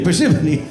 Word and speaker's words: Parsimony: Parsimony. What? It's spelled parsimony, but it's pronounced parsimony. Parsimony. Like Gethsemane, the garden that our Lord tended.